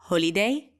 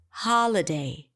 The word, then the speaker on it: holiday: really short holiday terra de holiday holiday not holy day holiday okay so it changes the pronunciation but it changes the rhythm as well